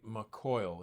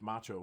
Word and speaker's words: Maciol: It rhymes with facial.